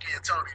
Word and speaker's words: D'Antoni: And I call him Mike D'Antoni because the D is silent.